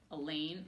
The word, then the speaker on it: Alain: even in the lunchroom Alain rhymes with pain well Aldo staring at